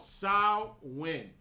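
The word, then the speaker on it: Samhain: it it's a celtic holiday right called sahlin it's spelled s-a-m-h-a-i-n right um it's called sao win that's how you say it that's where halloween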